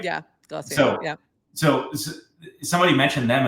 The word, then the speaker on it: Glossier: brand glossier I don't even know am I pronouncing that right yeah glossier yeah so somebody mentioned them as like something